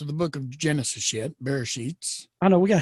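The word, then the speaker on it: בראשית: It's pronounced, again, like in Sephard, it's Bereshit. And in Ashkenaz, it's Bereshis.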